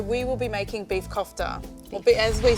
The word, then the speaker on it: kofta: So we will be making beef kofta, or as we say, beef kifta. Kifta. Yeah. Okay, beautiful. So different pronunciations.